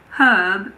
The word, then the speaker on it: herb: In American English, the H in the words herb and herbal also aren't pronounced. So in American English, these words are herb and herbal.